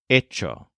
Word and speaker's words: hecho: Ito spelled h e c h o but pronounced EO remember that we can use any of our